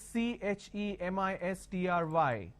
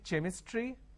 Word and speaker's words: chemistry: A word which is CHEMISTRY. Can I say chemistry? No. The pronunciation is chemistry.